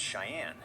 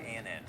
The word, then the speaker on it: Cheyenne: Her dog's name is Cheyenne. It's Oh, it pronounced is. just like the city or the Native American tribe. Okay, I was right. Cheyenne.